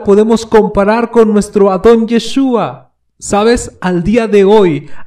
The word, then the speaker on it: Yeshua: Incluso Roma no consideró en dejarle su verdadero nombre o su correcta pronunciación, Yeshua, y lo transliteró a diferentes idiomas.